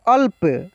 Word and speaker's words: अल्प: अब यहां पर देखिए इसको क्या बोलेंगे अल्प अल्प अल्प अल्प नहीं बोलेंगे अगर हम ल का उच्चारण पूरा करते तो कैसे बोलते अ ल और प लेकिन यहां ल जो है क्या है आधा जब हो रहा है तो इस ल का उच्चारण यानी ल में से अ हट गया अल्प अल्प ठीक है तो यह